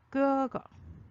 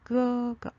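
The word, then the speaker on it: 哥哥: 끄거. 얘는 세로로 써졌네요. 자, 같은 글자가 반복되어 있고 오를 가자가 위아래로 같이 있어요. 그래서 쌍기역 발음으로 읽어주자 그랬었죠. 끄거.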